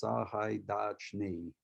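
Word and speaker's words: Сагайдачний: So it's Sahaidachny, so, and even if with a, professional Ukrainian choir, you might not pick up that last yot, but as it transitions through, you hear Sahaidachny. Yeah, that's how it's pronounced, Sahaidachny.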